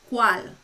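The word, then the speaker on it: cuál: esto nombre so what means que and means qual what c-u-a-l so it's in english you have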